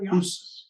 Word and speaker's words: Hus: I mean, one of the reasons why the Reformation catches fire under Luther and not Jan Hus, was my pronunciation all right? Yeah, Hus.